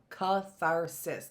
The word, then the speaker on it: catharsis: I know, that's such a catharsis. 3 syllables in a very small word, 3 stops in a very small word.